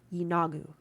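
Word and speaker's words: Yeenoghu: growls, giggles, and cackles, you make out a word. Yinagu. That's how you pronounce it, okay.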